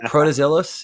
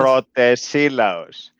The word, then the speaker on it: Protesilaos: Is it Protozillos? Is that how you pronounce it? Pretty close, yes. It's Pretty close. Protesilaos.